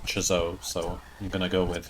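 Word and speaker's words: Chzo: of chazo also I used to think it was pronounced so but I've heard Yahtzee himself pronounce it chiso so I'm gonna go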